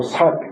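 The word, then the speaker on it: 數: 뜻입니다 그다음에 부유 수유 유전이 수라고 발음하지 않고 삭 자주 사이라고 그렇게 발음해야 합니다 이럴 때는 자주자주 유전하는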